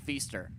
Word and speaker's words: Feaster: on roger phillips and rj feaster rhymes with easter phillips left side 6